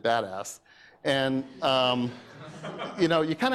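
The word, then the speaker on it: BDAS: this is a it's the abbreviation is be das and we like to pronounce it badass and you know you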